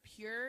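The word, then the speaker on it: Pyure: Pure. It's spelled Pyuure.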